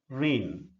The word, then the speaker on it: reign: e i g n this word is pronounced as rain it is a homophone of the word r a i n just comment rain homophone